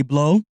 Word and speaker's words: Blot: My name is Blot or Blot. B-L-O-T, the T is silent.